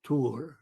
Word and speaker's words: Thor: Thor is pronounced Tur in the Nordic language.